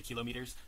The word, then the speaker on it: kilometers: so you can say kilometers um kilometers is the only one that we often change the emphasis otherwise um it's usually